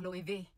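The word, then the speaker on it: Loewe: In German, the W we pronounce it as V as in victory.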